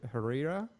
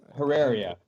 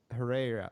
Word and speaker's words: Herreria: butcher your last name her Herrera is that how you say it I enough no um herreria herreria okay I apologize I am